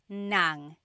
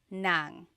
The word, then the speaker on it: ng: an object, the sentence marker here is nang. N g nang.